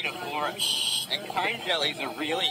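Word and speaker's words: ctenophora: And we also get foam jellies here, which are called phora, with a silent C at the start. So phora.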